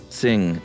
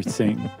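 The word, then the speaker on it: Qing: trouble pronouncing q-i-n-g Dynasty Q may be roughly pronounced as TS so not exactly the same so just say sing next time that would do I I didn't I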